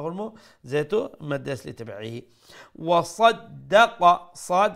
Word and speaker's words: وصدق: যেহেতু মধ্যে আসলি তাবিঈ وصدق صاد make sure you pronounce it with a full sound.